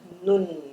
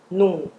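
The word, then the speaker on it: 눈: A pronúncia vai ser nun nun. Ó, o o N vai ficar aqui no dente, nun e não num, tá? No português, normalmente a gente lê isso vai falar num, né?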